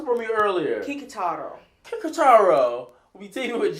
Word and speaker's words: Kikutaro: You pronounced it for me earlier. Kikutaro.